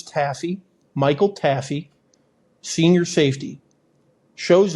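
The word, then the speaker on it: Taaffe: And I think it's I think it's Taffy. It's T A FF E. So, it's kind of an odd spelling, but I'm fairly certain it's taffy.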